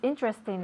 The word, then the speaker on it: interesting: Your book is interesting. Interesting, fantástico. No decimos interesting, sino interesting. Nos comimos la primera E, ¿ok?